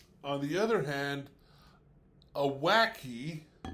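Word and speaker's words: wacke: On the other hand, a wacky, let's see if I remember right, it's spelled w a c k e.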